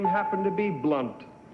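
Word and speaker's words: Blount: His middle name happened to be Blunt. B-L-O-U-N-T, pronounced Blunt, and it's just a thing I knew.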